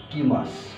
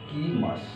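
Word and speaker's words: 来ます: কুরুর মাস form হচ্ছে কি মাস কি মাস এটা হচ্ছে পুরো মাছ ফল অর্থ সেম করা আসা কিমাস মানে হচ্ছে আসা এটা আমরা এখানে লিখি লিখবো কি মা কিমা কিন্তু উচ্চারণটা হবে কিমাস তো কিমাস মানেও আসা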